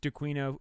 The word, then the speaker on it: D'Aquino: It's pronounced DeQuino.